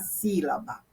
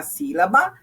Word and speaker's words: sílaba: proparoxítona é acentuada então olha aqui sílaba a mais forte a antepenúltima olha ela aqui com acento olha a palavra tônica